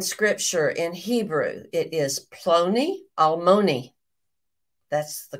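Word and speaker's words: Ploni Almoni: nearest Kinsmen in scripture in Hebrew it is plony Almony that's the correct pronunciation I said it that way some of the time and other of the time I think I may have said aloni palmoni or who knows what I said some crazy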